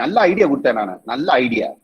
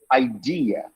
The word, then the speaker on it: idea: move next is see never say an idea but you have to say idea i didn't say idea id idea at the second syllable okay same applies for